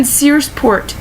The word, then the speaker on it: Searsport: people's homes wrong like I live in Searsport Sears Port it's like the store Sears but it's a port it's right across from